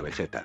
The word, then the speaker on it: Vegeta: Ahora, la palabra Vegeta se escribe con g, por lo que la pronunciación sería Vegeta.